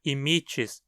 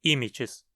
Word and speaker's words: immitis: immitis áspero Severo Cruel veja como ir na penúltima sílaba e longo o que faz com que a pronúncia seja emits e não immitis dirofilaria immitis a filária